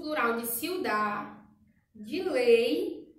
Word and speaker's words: ciudad: Ciudad, ciudad é cidade. Ciudad não tem no final no espanhol. O D é mudo, ciudad.